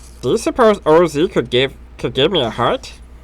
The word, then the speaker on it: Oz: I almost mispronounced that. It's OZ.